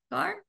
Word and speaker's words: Kaur: Kaur?